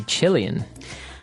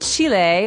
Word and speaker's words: Chile: a Brazilian and a Chilean. Okay, so Brazilian. In this country, there are many Brazilians. And Chile, or Chile, as many Americans say, has people called Chileans.